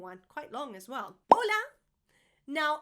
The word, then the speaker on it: hola: Hola. Now, as you know, the H in Spanish is silent.